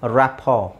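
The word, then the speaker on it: rapport: silent ಮಾಡಬಹುದು ಇಲ್ಲಿ ಎರಡನ್ನು ಸೈಲೆಂಟ್ ಮಾಡಬಹುದು just say ರಾಪೋರ್ ರಾಪರ್ buffet debut ವ್ಯಾಲೆ asthma listen ಫಾಸನ್ ಎಲ್ಲಾ ಕನ್ನಡದಲ್ಲಿ ಸ್ಪಷ್ಟವಾಗಿ ಬರೆದಿದ್ದೀನಿ ನೀವು ಹಾಗೆ ಉಚ್ಚಾರಣೆ ಮಾಡಬೇಕು ಸಾಫನ್ ಸಾಫನ್ ಅಲ್ಲ ಸಾಫನ್ ಮೊಯ್ಸನ್ ಮೊಯ್ಸನ್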